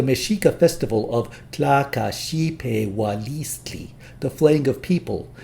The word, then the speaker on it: Xipe: qualifies this noun case this condition lets us drop the till suffix to pronounce the name shipe a suffix reappears with